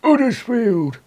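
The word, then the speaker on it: Huddersfield: From Uddersfield. That's how it's pronounced. It's got an H on it, but you don't pronounce the H. It's Uddersfield.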